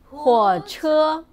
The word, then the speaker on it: 火车: And this one, how do you pronounce it? 火车火 It's 火车火车火车火车 means truck In the last class, we have learned 货车 it means truck.